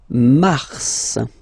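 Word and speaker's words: mars: try to practice it Okay then Mar okay so in a way it's an exception because normally final s is not pronounced in French okay we've got some exceptions and this one is one of them so Mar pronounce the final s mar mar okay then ail ail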